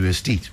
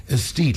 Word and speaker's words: Aesthete: Aesthete, let me spell it for you. AESTHETE, like aesthetic, but this is Aesthete Creative Agencies.